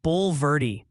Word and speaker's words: Bulverde: Bernie is apparently Bernie, like the sandals, and they're emphatically voting for Bulverde as Bulverde.